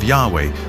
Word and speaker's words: Yahweh: his name was was these four letters which in English would be YH wh which we think were probably pronounced something like Yahweh but Yahweh only appears